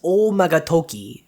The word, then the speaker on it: Oumagadoki: telling time in japan the word omagadoki which is usually pronounced as o magatoki toki meaning time in japanese means something like the